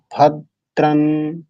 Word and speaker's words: ভদ্রং: পূর্বের হ্রস্ব আজকে এখানেও যে ভ এর সাথে হ্রস্ব আকার আছে এটাকে দাবিয়ে বলতে হবে কি বলতে হবে ভদ্রান এই যে ভকে আমি